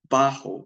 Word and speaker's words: bajo: means tall Animo animated bajo with a J the J is pronounced like an H is short in stature